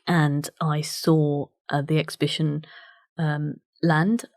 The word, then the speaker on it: Lande: I saw the exhibition Land. I've mispronounced that, it's a French word, but I'm going to say it in the English way. Land, it's spelled Lande, about the Calais jungle.